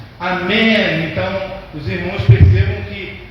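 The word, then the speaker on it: אמן: E a palavra amém, que a gente pronuncia aqui com o final M, no hebraico é com N, é amém, amém.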